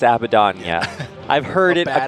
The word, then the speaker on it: Abaddon: But Abaddon to follow up with Sand King.